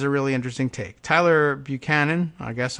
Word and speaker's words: Buchanan: Tyler Buchanan, I guess, unless he pronounces it Buchanan, as some people do, like we do here in Virginia for some reason, writing